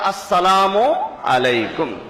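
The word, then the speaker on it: السلام عليكم: হোক নবীজি বলেন যে সালাম দেওয়ার সময় দিতে হবে আসসালামু আলাইকুম এই প্র্যাকটিসটা আমরা করব যে আসসালামু আলাইকুম আসসালামু আলাইকুম এই তাড়াতাড়ি সালাম দিতে গেলে এখানে আসল শব্দটা উচ্চারণ হয় না উচ্চারণ যদি না হয়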